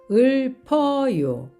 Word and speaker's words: 읊어요: 모음을 만나면 읊어요, 읊어요. 앞에 있는 리을이 받침이 되고 피읍은 다음으로 이동을 합니다.